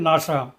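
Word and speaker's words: NASA: এর abbreviation নাসা এখানেও এন এস পৃথকভাবে উচ্চারিত হবে না শব্দের ন্যায় উচ্চারিত হবে নাসা নাম্বার ফোর আরক কনসোনেন্ট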